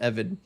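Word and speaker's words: עבד: Uh yeah, the slave defense uh in Hebrews is that if for anyone wondering that's how you spell slave in Hebrew it's pronounced evid.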